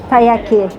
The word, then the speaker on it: taiyaki: -Taiyaki.